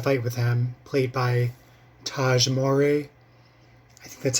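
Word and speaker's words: Tahj Mowry: teenagers picks a fight with him played by Taj Mory that's how you say his name um so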